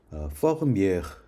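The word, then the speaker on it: Vermeer: 저 베르메르는 사실은 되게 이상한 발음이에요. 이렇게 많이 통용되기 때문에 놔둔 건데 원래 이제 네덜란드식 발음에 제일 가까운 거는 퍼그미에르 정도 됩니다. 퍼그미에르. 예, 전혀 알아들어서 우리가 가서 그냥 베르메르라고 못 알아듣고요. 예, 퍼그미에르 이 정도예요.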